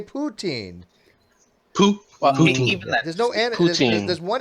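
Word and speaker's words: poutine: I'm not saying with an N I say poutin there's no One n in at the end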